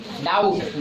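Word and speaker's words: doubt: डाउट। डाउट में भी silent है।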